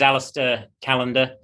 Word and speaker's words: Alastair Callender: meet you too uh how do you pronunciate your names in the audience i don't want to jack it up and chop it up yeah no worries my name is aleister callander i've got a background